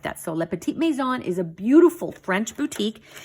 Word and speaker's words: Le Petit Maison: that because the owner is the one that pronounces it like that so Le Petit Maison is a beautiful French Boutique they sell antiques